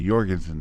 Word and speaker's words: Jorgensen: name you know it's kind of like for folks in the states take the word fjord now that's got a j in it we don't say for